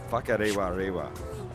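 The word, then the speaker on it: Whakarewarewa: By the way, Whakarewa It's spelled with a WH, which in Maori actually sounds like an F.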